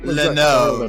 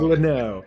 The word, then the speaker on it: Leno: When you came to the team, I was pronouncing your name as like a French person would. I never just said Leno. I was like Leno. So Leno.